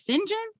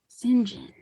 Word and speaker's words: St. John: You pronounce it as Singhen. Mhm. It's spelled St.